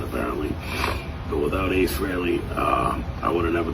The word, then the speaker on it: Frehley: So, I got to thank him from the bottom of my heart honestly for without Ace Frillley is the correct pronunciation apparently. But without Ace Riley, uh, I would have never picked up the